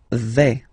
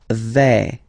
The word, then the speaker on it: vais: Okay, so remember, final S not pronounced here. Je vais. Okay, when you combine this A, I, you get the sound E, really open. Okay, je vais.